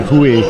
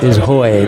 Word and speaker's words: Hoy: I was saying Hui earlier in the day. Okay. I didn't know how to pronounce that. That one in Hoy. Dutch. That one in Dutch is Hoy.